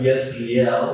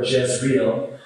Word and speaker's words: Jezreel: Well, Revelation chapter 16, verse 16, describes the Battle of Armageddon in the Valley of Yezreel, or Jezreel, as it's pronounced.